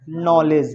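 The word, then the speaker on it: knowledge: देता हूं आपके सामने ये के एन ओ डब्लू एल ई डी जी ई ये नॉलेज नहीं है ये क्या है नॉलेज है है ना यानी के क्या है साइलेंट है जैसे एक वर्ड है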